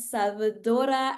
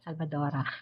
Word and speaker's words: Salvador: And we have Regina, Salvadora, and Tikisa. Salvador. I hope I have pronounced your full name right. I'm so used to saying. Salvador only, not Salvadora.